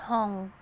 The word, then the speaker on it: Hong: you just say your name, please, and just spell it. My name is Zong Hong.